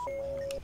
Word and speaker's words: Ypsilanti: But what about in a word like Ypsilanti? I don't know how to spell that.